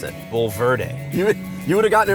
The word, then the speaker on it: Bulverde: name of this town written how would you pronounce it B Verde you you would have gotten it right well most people most people don't most people say like Bader or bedre I'm thinking from more of a Spanish point